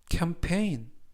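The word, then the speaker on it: campaign: 뜻이 되겠습니다 이번 표현은 캠페인 캠페인 캠페인이라고 발음하시면 되겠고요 이때 강세는 두 번째 나오는 알파벳 a 강세가 있습니다 그래서 캠페인이라고 발음하시면 좋겠고요 품사는 명사 뜻은 캠페인이라는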